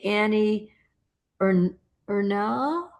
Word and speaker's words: Ernaux: But how do you say Annie Ernaux? It's Ernaux. E, R. Ernaux. She's won the Nobel Prize.